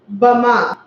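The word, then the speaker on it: בהמה: In Hebrew, beast is pronounced bama.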